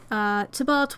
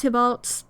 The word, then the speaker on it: Tybalt: Tybalt differently, it's because the way that it's supposed to be pronounced is Tybalt, I believe. However, the version of Romeo and Juliet I rewatch the most is the Hungarian version, where they pronounce it Tybalt, and that fucks me up.